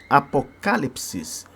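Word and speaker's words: ἀποκάλυψις: Revelação no original grego a palavra é apocalipses apocalipses é uma palavra proparoxítona apocalipses é assim que se pronuncia no no grego o que quer dizer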